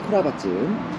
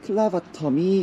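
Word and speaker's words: clavatum: 다른 거냐 자 나우가 크라바찜 다육식물이 우리나라에 들어온 계기가 뭔지는 아시죠 일본을 통해서 우리나라로 들어왔는데 그때 그 클라바텀이 일본 사람들 발음대로 크라바찜이 돼서 우리나라로 들어왔고 그러다 보니 한동안 일본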